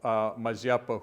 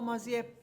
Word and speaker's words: Mazeppa: Mazeppa or Mazeppa? How do you say it? You would put the emphasis on the first syllable as Do opposed.